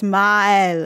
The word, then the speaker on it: Maelle: to one another that they should be pronounced separately so they don't blend together so it's ma oops so it's mile it's kind of like